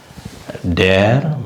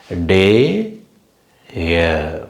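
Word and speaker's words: der: talk நாள் டேர் மோன்டா இப்ப வந்து டேர் அப்படின்னு சொல்லக்கூடாது டே இயர் அந்த மாதிரி அந்த உச்சரிப்பு இருந்தா கொஞ்சம் கேக்குறதுக்கு இனிமையா இருக்கும் டே இயர் டேர் டே இயர் டேர் அது மாதிரி இருந்தா கொஞ்சம் அந்த ஆறு வந்து கொஞ்சம் தொண்டையில உச்சரிக்கிற மாதிரி நம்ம வந்து பழகணும் டே இயர் டேர் டேர்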